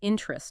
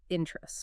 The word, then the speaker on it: interest: Often it's just two syllables interest, not three like interest.